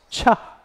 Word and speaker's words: Chih: called tai chi cha that third word is pronounced cha like chuck wagon if you're into food metaphors i don't know if